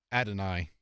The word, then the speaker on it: Adonai: Adonai. Adonai Mitchell, better known as AD, but he's going to join us.